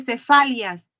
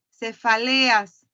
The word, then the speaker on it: cefaleas: Les repito, señorita, no se dice cefalias, cefaleas.